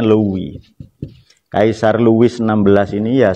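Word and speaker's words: Louis: Di mana Kaisar Lewi 16? Luis ya cara bacanya Li.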